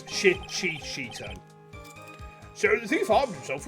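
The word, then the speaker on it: Shichishito: I think it's actually, Shishito. Is how we pronounce it. It's not Shishito. It's Shichito.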